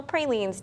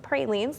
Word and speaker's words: pralines: It's National Pralines Day, but apparently there's an opinion on how to pronounce it. Some people are divided on saying pralines, like I just said.